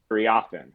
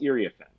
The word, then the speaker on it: Iriafen: Or in the case of Kiki, who we all thought was Iriafen, and then we realized it's Iriafen. To be able to say, hey, Kiki made clear before the start of the season, it's actually pronounced Iriafen.